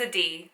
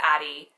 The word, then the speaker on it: Adi: My name is Ad spelled Adi. A lot of people think it's Addie.